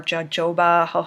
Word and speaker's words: jojoba: Oftentimes it's jojoba or jojoba, I believe is how you say it.